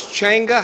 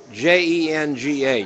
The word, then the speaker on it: Jenga: And you say it's Chenga? How you spell it? C-H-A-N-G-A? J-E-N-G-A. Jenga.